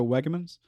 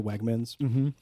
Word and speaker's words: Wegmans: I was so hungry inside Wegmans that everything started enraging me. Right. And the fact that you kept pronouncing it Wegamans Like I almost really started mad.